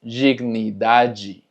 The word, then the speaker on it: dignidade: Y tenemos diálogo, dignidade, como puedes ver, termina en DE, por lo tanto es dignidade.